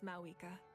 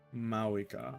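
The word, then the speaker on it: Mavuika: This time, just as Mawika. Mawika. Thank you for the respect, understanding, and support. The V is silent.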